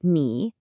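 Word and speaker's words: 你: First up, we have ni. Pronounced ni.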